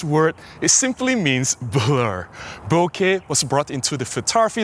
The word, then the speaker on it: bokeh: Basically, they say bokeh or boko or boku or whatever. It is wrong. You can refer to the technical papers that was commissioned by Mike Johnston originally on how to pronounce the word bokeh. It is bokeh.